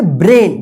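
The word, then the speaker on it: brain: तो इसको क्या पढ़ेंगे, ब्रेन नहीं पढ़ेंगे, क्या पढ़ेंगे, ब्रेन। देखिए यहां पे ए आई है ना, तो इस ए आई का ए उच्चारण होगा। ठीक है, क्या उच्चारण होगा, यहां पे ए वाई का ए उच्चारण हुआ है, तो यहां पे ए आई का उच्चारण ए होगा।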